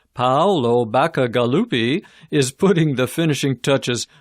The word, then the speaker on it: Paolo Bacigalupi: Number 2, Paolo Bacigalupi, and that's pronounced Paolo Bacigalupi, is putting the finishing touches on a powerful